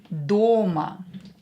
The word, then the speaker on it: дома: O is stressed here. Дома.